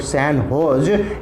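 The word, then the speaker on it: San Jose: और रिसेंटली अभी एक जगह है जिसको कि सैन होज कहते हैं, प्रोनाउंस करते हैं हम लोग सैन होज स्टेट यूनिवर्सिटी है, जहाँ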